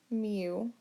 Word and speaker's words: mu: it by the Greek letter mu so it's pronounced mu but it's spelt mu so it's a Greek